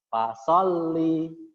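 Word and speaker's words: فَصَلِّ: Kalau di Al-Qur'an ada tanda tasdid ini berarti membacanya ditekan. Gimana? Ditekan. Seperti ini, fasolli. Nah, ada tekanannya. Fasholli li rabbika. Nah, agak seperti berhenti sebentar itu ya.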